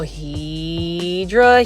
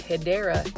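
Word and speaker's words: Hedera: see that there were several Hedra Helix or the correct way to say it is Hideera Helix Jubilee.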